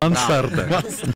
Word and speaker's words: мансарда: Мансарда. Это слово так произносит.